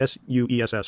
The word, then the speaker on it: Suess: Hans, it's S-U-E-S-S, might be Seuss, like Dr. Seuss, but I think you pronounce it Suess, Hans Suess, and Manhattan Project physical chemist Harold Urey.